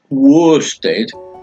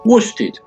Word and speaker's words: Worstead: They had a go at Greater Anglia and said, nah mate, nah, it's not pronounced worsted, it's pronounced worsted. You know, the material that they make suits out of and all that.